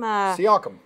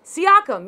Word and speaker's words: Siakam: Siakam. Siakam, yeah.